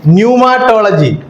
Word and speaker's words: न्यूमाटोलॉजी: है सो टुडेेस टॉपिक न्यूमाटोलॉजी क्या है न्यूमाटोलॉजी वहां पी है पी साइलेंट है इंग्लिश में ऐसा एक